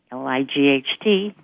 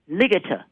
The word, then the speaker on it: light: are not phonetically regular, such as light, L-I-G-H-T, to sound it out in phonics, you say ligata. Yes. But then it's a pattern word, light, sight, might.